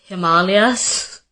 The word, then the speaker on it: Himalayas: who's being corrected, like ashwagandha and Himalayas, it's Himalayas, and it's ashwagandha.